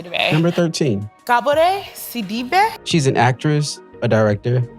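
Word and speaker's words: Gabourey Sidibe: So I'm Sagalles and so my name is pronounced Gabore Cibbe. But you're American, so I'll let you say Gabriet C. Number 13. Gabbor Cibbe.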